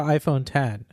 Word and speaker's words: iPhone X: to call it the Apple calls it the iPhone 10 I kind of think everybody's gonna call it